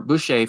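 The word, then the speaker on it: Busche: Boucher, yeah.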